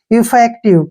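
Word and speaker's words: effective: की मात्रा हो गया वी का उच्चारण व हो गया और ई का उच्चारण हम नहीं करते हैं इफेक्टिव क्या पढ़ेंगे इसको इफेक्टिव इफेक्टिव का मतलब होता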